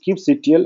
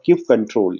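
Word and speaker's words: kubectl: here there is one is keep ctl or cube control you can spell it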